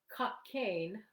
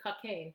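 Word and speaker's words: Cockaigne: the medieval concept of cocaine i think that's how you pronounce it cocaine i c-o-c-k-a-i-g n e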